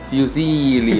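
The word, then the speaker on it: fusilli: होता है वो पेने होता है, इसके अंदर फ्यूजीली है, अभी हमने राइट प्रोनाउंसिएशन देखी थी इटालियन की, तो कहते हैं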